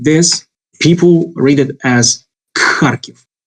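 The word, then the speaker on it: Харків: Many foreign learners of Russian language make the mistake based on this weird transcription, where they would pronounce this here letter as K.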